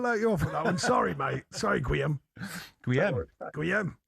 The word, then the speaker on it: Gwilym: Jonny, Sean, it's Guillem. Guillem, see, thank you. No, you said Guillem. I said Guillem. I was much closer. He didn't say it properly. They're nodding that I was much closer. Thank you. Guillem. All right. I need to get you Welsh. Yeah, they got a double L like we have.